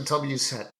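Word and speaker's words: WSET: You said Wesset. Well, Wesset. People will say it either way. Okay. It really depends on where you're from, but it's recognized worldwide.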